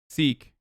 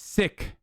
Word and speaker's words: Sikh: I mean, it's Sikh. That's how you say it. So shut the fuck up. It's not Sikh, right? People always say Sikh. I say Sikh, and then people say I'm wrong. So shut the fuck up. I'm saying it right.